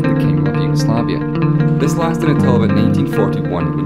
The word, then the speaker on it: Yugoslavia: that pronunciation is wrong it's actually pronounced as Yugoslavia with the word slav which is the name of the people that live in the